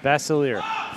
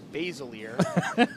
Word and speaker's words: Basiliere: So we owe Cassandra Pettit a thank you because it is pronounced Basiliere. Thank you very much, very much. Thank you, Cassandra. We are good to go. Although somebody else disagrees and says it's Basiliere.